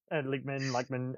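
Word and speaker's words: Lachman: It's, but yeah, I'm a big Dyken Lykman fan. Is that how you pronounce it? Lykman, I pronounce it.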